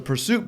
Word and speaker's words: PRST: asked about is that how you pronounce it Pursuit is actually prst I stripped out all the vowels that's what's up over